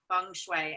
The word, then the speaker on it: Feng Shui: And Kate, you are an expert on creating that environment with your work with Feng Shui.